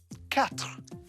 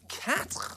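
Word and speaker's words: quatre: W sound next up four cat cat right there you go cat that sounds a bit like cat yes it does and listen to that R sound in the back of the throat again cat next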